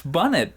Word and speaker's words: bunnet: see we love it it's bunnet but every we keep pronouncing it as bunet and that even pronounced